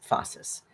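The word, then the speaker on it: phasis: There's something called uh fossus and that's spelled ph um ph a s i s fossus and it's a henistic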